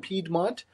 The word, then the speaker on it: Piedmont: It's also pronounced Piedmont in English.